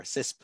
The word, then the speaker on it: CISSP: What do you think about CISSP or CISP? How some people pronounce it.